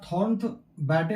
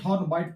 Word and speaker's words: Thornthwaite: इसको लिखा हुआ है थॉर्न बैटे लिखते हैं, लेकिन थॉर्न बाइट पढ़ते हैं। इसको थॉर्न पढ़ते हैं, और टी साइलेंट रहता है, यहाँ पे साइलेंट रहता है ये।